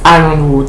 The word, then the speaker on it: Ironwood: And those who goes to the more fringes really swear by Catherine's Ironwood. Yes, it's pronounced Ironwood, even though she writes it with a Y.